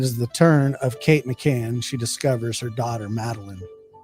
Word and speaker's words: McCann: said his name wrong it's McCann not McCain dummy well joke's on you